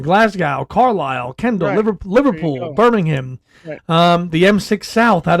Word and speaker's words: Birmingham: proper pronunciation right is the H is practically silent Birmingham Birmingham yes Birmingham yes